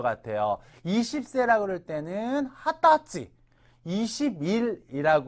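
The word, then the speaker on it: 二十歳: 기억해 주시는게 좋을 거 같아요 20세라고 그럴 때는 하다지 21일이라고 할 때는 하츠가 그다음에 또 1일이라고 할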